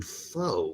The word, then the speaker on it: faux: I'm like, you mean faux, right? You must mean faux. I guess he did. I feel for him though, quite frankly. I mean, if I didn't know how to pronounce that and I just saw FAUX, I probably would have said Fox as well.